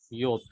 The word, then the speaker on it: Yod: Yod.